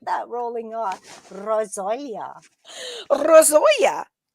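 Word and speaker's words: rosolje: and you're gonna like the word when I pronounce it, rozolia. I knew you'd like that. I knew you'd like that. You like that rolling on. Rozolia. Rosoya.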